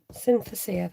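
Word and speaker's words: synesthesia: i'm oh thank you it's known as synthetic synthesis am i pronouncing that right synthesia there you go thank you carol cindy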